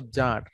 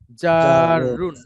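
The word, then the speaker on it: جار: জারুন, হ্যাঁ, যদি সুন্দর সুন্দর উচ্চারণ করে বলি জারুন। আর জারুন, হ্যাঁ, জারুনকে আমরা একটু ছোট করে বাংলাতে জার বলি, কিন্তু যখন আমরা উচ্চারণ করব শুদ্ধ করেই করা উচিত।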